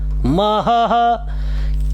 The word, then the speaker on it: महः: किं महः महः, 2 ह बनेंगे, एक तो ह है ही एक विसर्ग का।